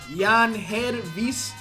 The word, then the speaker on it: Yangelvis: I do believe it is pronounced Yangelvis. But look at all.